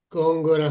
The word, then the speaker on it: Góngora: honor de poder recibir a la doctora Gloria Góngora. ¿Lo pronuncié bien el Góngora?